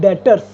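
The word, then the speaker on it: debtors: है that is called डेटर्स। B silent होता है बेटा इसमें, इसको कैसे रीड करेंगे हम, प्रोनाउंसिएशन कैसे करेंगे? डेटर्स।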